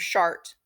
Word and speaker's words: Chartres: show you is the Church of shart or Sartre Chartres sometimes you hear it pronounced and Chartres again you